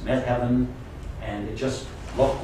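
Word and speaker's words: Methven: me heaven to me I mean it's read met Heaven it's pronounced me heaven and it just looked like meden uh Med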